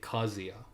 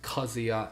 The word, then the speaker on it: Kazuya: You say Kazuya. That's how you say it. It's Kazuya and it's Heihachi. Anyone else?